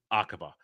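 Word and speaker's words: Aqaba: agaba I think it's agaba I think it's agaba aaba I think it's akaba um when they're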